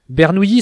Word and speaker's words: Bernoulli: Bernoulli se prononce avec le son y, même s'il s'écrit O-U-L-L-I.